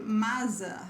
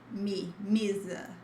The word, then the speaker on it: mesa: Because if I put it like this, you'll say masa, masa, and this is not the idea. You should consider the sound of in may, then me, mesa, okay, mesa.